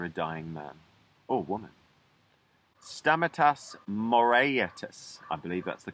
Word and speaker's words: Stamatis Moraitis: Stamatis Moraitis, I believe that's the correct pronunciation of saying it, was a man who was from an island called Ikaria, one of the Greek islands.